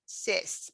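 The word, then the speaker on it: сесть: word cyst in russian cyst to sit down it's pronounced with a soft s at the beginning cis because it follows i mean it precedes the yeah sound but if you put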